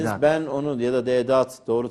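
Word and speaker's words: Deedat: Ahmet Didat dediniz. Didat. Ben onu ya da Dedat doğru telaffuzuyla size eksi puan kazandırdı efendim.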